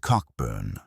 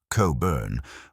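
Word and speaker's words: Cockburn: Rear Admiral George Cochburn, pronounced Cobburn, was the naval commander of the Chesapeake, and he was without question the most hated and feared man in America.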